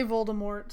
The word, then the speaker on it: Voldemort: I would just like to first point out that you're mispronouncing Voldemort's name. I'm gonna say Voldemort, so you can just deal with it.